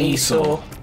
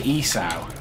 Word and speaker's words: Esau: get that yes um jacob and esau he looked it up and google said that's how you pronounce it yeah i was trying to say isau but it sounds like i'm calling him like an e thought yeah and it's